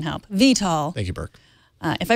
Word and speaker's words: VTOL: action figures it's time to move on right Vito Vito oh I'm sorry thank you for the pronunciation help VTOL Thank You Bert if I really want to